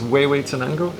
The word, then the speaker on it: Huehuetenango: It's situated in an area called Huehuetenango. It's not pronounced Hue or whatever you think. It's Huehuetenango.